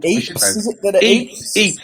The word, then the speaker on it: Ypres: Eeps, is it that Eeps? Eeps, that's it. Eeps. Well, he's just come back from Eeps and Yeeps. It's spelt Eeps, but it's spelt with a Y. Ypres, isn't it?